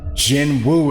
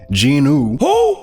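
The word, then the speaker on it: Jinwoo: video telling me that my pronunciation of Jin Woo is incorrect. It shouldn't be Jin Woo. It should be Ginu.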